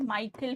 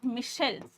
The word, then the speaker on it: Michel: spelling this as Michael this is not Michael Fuko no the correct name is Michelle see this is how